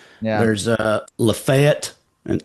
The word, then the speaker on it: Lafayette: There's a Lefett and Lafayette, you know.